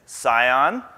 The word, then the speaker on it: Scion: context of delivery so the proper way to say it is Scion and and attic so